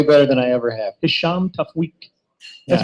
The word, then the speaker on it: Hisham Tawfiq: Hisham Tafweek. That's Yeah. because he actually did a liner for us, and that's how I know how to say it. This is Hisham Tawfiq.